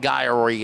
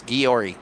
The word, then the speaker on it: Guiory: So, the Y is silent. It's It's not Guyory. It's Guiory.